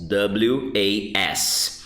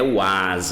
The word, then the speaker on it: was: W-A-S. Com esse sonzinho de Z quando fala. E não é was, ok? É som de O. W-O-S, I say was. W-A-S, I pronounce was.